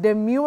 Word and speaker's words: demure: This D-E-M-U-R-E. So do you say demure? Because even if you're doing a semicana, demure, or how is it pronounced, Willice?